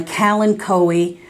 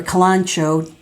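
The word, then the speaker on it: Kalanchoe: trying to grow is my cal and cowie or kalancho depending upon where you live is how you say it i say it calen going my count coe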